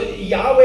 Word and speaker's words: Yahweh: the Yahweh no so so Yahweh is the way that it's often pronounced today but what's fascinating is we don't even know if that's how it's pronounced because in the Hebrew language there's no vowels and so you kind